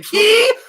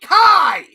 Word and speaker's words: Kai: Agni Key? What the fuck? It's Agni fucking Kai!